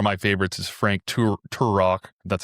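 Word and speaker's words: Turek: The science thing for me, one of my favorites is Frank Tur Tur Rock, that's how he pronounces his name, but he talks about how the axis of the Earth is at a very specific thing.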